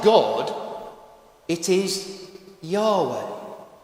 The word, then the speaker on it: Yahweh: word and nearly all scholar think that it's pronounced like this Yahweh and in the Old Testament God's name is not God it is Yahweh it's all over the Old Testament let me